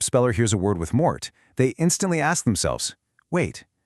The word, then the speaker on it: mort: And our ultimate root formula for today is MORT, which rhymes with fort.